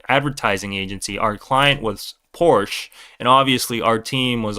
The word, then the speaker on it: Porsche: He was from the homeland, Germany, and he said, it's Porsche, not Porsche. Stop saying that Americanized version of Porsche. It's Porsche.